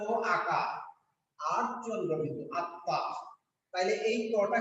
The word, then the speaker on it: আত্মা: কিন্তু বাংলায় যখন পড়বো তখন এটার উচ্চারণ হচ্ছে আ ত নিচে হরস চিহ্ন আরেকটা ত আকা আর চন্দ্রবিন্দু। আত্মা।